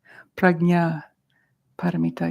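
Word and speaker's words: Prajnaparamita: to Tran to pronounce it's a little more accurate that's like a g pragnya paramita you want to try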